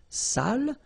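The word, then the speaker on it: sale: the same adjective here without the accent so if you don't put the accent it means dirty and then you pronounce it Sal but in that case here okay you put the accent and it's quite important because in that case it means salted okay Sally okay say s say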